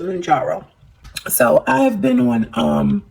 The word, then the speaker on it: Mounjaro: Okay, so that's how we pronounce it, Mounjaro.